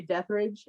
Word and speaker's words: Detherage: And I was actually is it Detheridge or Deathridge? I I usually just say Deathridge. I've heard it Yeah. pronounced several ways. The FedEx guy loves to say Rage because it's more metal.